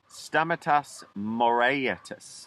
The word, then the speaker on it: Stamatis Moraitis: Stamatis Moraitis, I believe that's the correct pronunciation of saying it, was a man who was from an island called Ikaria, one of the Greek islands.